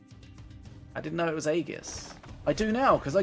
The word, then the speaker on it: Aegis: I didn't know it was Aegis.